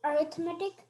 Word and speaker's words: arithmetic: Am I pronouncing it correctly? Arithmetic?